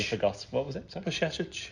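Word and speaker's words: Bajčetić: Pashetic. There you go. That's how you pronounce it. So just put a sh in the middle of it.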